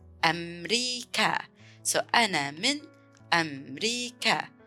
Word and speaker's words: أمريكا: It's similar how we say in English America, but in Arabic we pronounce it as أمريكا. أمريكا.